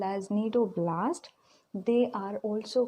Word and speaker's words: cnidoblast: Here C is silent. Cnidoblast, or it is also called as cnidocyst. Repeat with me how to pronounce cnidoblast or cnidocyst.